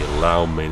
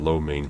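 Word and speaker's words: lo mein: although there are still a lot of people who say allow Maine instead of low mean for some reason now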